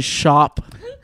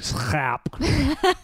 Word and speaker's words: Schapp: It's actually shop. If I was to use my Dutch native or family tongue, it'd be like Schaap.